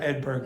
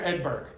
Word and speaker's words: Edberg: You have to pronounce the last consonant or you will not be understood.